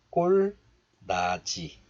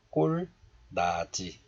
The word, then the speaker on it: 꼴나지: 넌 그 꼴나지. 꼴나지. So this one is pronounced as da in isolation. And we can guess that this one becomes la.